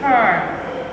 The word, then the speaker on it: fur: So this word is pronounced as fur, fur. So don't get confused in saying four and then you say four.